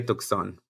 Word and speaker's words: Tucson: Bueno, Tucson o Tucson. ¿Cómo se dice? Tucson, hay que decirle Tucson.